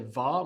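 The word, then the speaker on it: hva: The pay attention here that the va means what is silent h as all the question words in region the h is silent.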